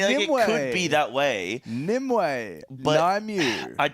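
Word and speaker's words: Nymue: this one I like nimway I kind of think nimway is cool no no no cuz the only way is the method way the method way Nim way nimu I get a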